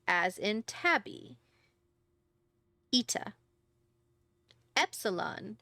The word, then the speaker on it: epsilon: Epsilon, short E as in gardenia.